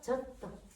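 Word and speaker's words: ちょっと: 그래서 여러분이 이 디귿 받침 이 쯔를 작다고 무시하거나 발음을 제대로 하지 않으면은 그대로 읽으면 안 돼요. 앞에 액센트 주면서 젖도 젖도 선생님 우표도 3음절인데 얘 잠깐만도 3음절이네요.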